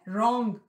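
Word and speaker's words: wrong: Ireland है फिर है रॉन्ग कोई भी चीज को गलत करें उसको रोग कहते हैं तो रोंग में डब्लू जो है वह साइलेंट है कि निटिंग भूनने को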